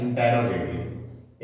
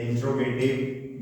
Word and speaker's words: interrogative: sentence आपका pronunciation है वैसे इसका उच्चारण होता है इंटेरोगेटिव इंट गट नहीं होता है बोलने के लिए लोग बोलते हैं इंट गट भैया इंट्रो तब बनेगा